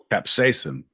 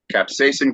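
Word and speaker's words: capsaicin: is pure how do you say it again capsacin capsacin crystals pure capsacin crystals so it is the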